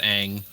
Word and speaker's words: Aang: I said, no, they actually pronounced it wrong in the series. Oh, you mean the main character? Yeah, Ong versus Aang.